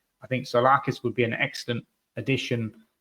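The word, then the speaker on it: Tzolakis: And again, a familiar name for those of you who remember last season is the Olympiacos goalkeeper, Konstantin Solakis, is how you pronounce it.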